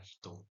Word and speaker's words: ひと: Untuk kunyaminya, cara baca Jepangnya itu adalah hitung.